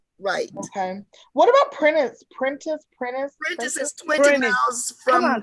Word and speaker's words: Prentiss: the connection is it is how do you pronounce it it's princess that's right apprentice what is the connection there